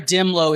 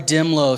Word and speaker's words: Dehmlow: So somebody from your state, and her surname is spelled Dehmlow. She's in our report. Just search Dimlow.